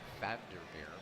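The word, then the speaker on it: Vander Meer: and yes I said founder mirror because of me and Dutch is pronounced like an F it's a Founder bear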